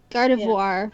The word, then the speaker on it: Gardevoir: of guard of war Gardevoir Worley like who are ya like the the word noir but with a V it mm it sounds